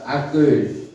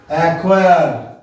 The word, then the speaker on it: acquire: স্যার এটা হলো অ্যাকুয়েট। না না, এ দেখো ACQUIRE, তাই তো? জি স্যার। তুমি কি বললে শব্দটাকে আবার বলো। স্যার অ্যাকুয়েট। ভুল, উচ্চারণ লিখে নাও। অ্যাকোয়ার, অ্যাকোয়ার এর বাংলা হলো অর্জন করা।